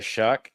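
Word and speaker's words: Shough: Uh, the New Orleans Saints did get Tyler Shuck. That's spelled with a gh for those of you who hate the American English language.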